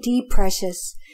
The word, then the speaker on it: Preikschas: to say it right so I tell them right off the bat just call me de precious and they kind of